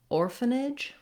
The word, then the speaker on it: orphanage: Same thing happens in orphanage.